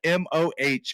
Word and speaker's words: Moh: It's spelled M-O-H. Sounds like he's moaning as he says it.